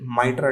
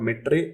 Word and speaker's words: MITRE: It's not mitre, it's mitre. The reason I'm saying this, at least be with the people around who know the pronunciation, right?